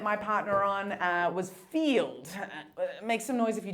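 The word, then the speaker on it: Feeld: I um Okay, so I'll explain Field. Field is the sex positive dating app. So um so it's spelled um Field like like feel with a D.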